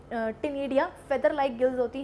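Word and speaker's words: ctenidia: टिनिडिया। क्या? टिनिडिया। मैम सी तो बोला नहीं, अरे सी साइलेंट है यार, सी साइलेंट है।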